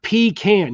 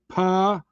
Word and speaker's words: pecan: the alltime it's not pee can you're not peeing in a can it's peon look it up in the dictionary it's pronounced pon pon it's peon not